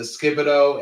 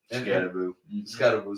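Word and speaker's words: Skattebo: Was it Skibido and Dart? Scatterboo. See, I knew I was saying. I knew I was saying it wrong.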